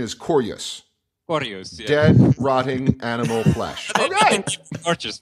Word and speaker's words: Korjus: you want we can keep it cous cuz cous sounds gorgeous gous Cous I like it more so I so the actual pronunciation is corus corus dead rotting animal fleshes I'm I'm happy